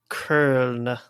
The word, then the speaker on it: Köln: Köln. What is it? Köln. Köln. Or Köln, you could say, I guess. Köln. Usually German pronunciation's decently easy. I don't like that one. Or you could go French and call it Cologne.